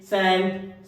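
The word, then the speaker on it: scent: सीन, सेंट, साइंस।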